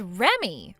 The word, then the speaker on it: Remi: Uh do you read that as Remi or do you read that as Remy? Huh? You're supposed to read that as Remy. Remy. So, your name is Remy? It's spelled Remi, but you read it like Remy.